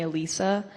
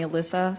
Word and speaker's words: Alysa: But, so my family calls me Alysa, but like all my friends call me Alyssa, so it really doesn't matter.